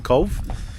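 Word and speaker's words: Cobh: Oh, sorry, not Cobb. The cathedral we saw in Cove.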